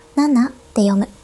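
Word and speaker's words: 七: Nên số bảy đọc là "nana", số bốn đọc là "yon" chứ không phải "shi".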